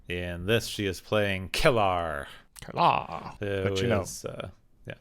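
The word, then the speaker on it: K'Ehleyr: In this, she is playing Kellar. Kellar. But you know, yeah. Given Klingon spelling, it's a little weird to look at it. It's like, oh yeah, that is how you say it.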